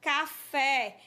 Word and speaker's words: café: exemplo uma palavra oxítona café a sílaba fé você pronuncia ela com mais tonicidade boneca é uma palavra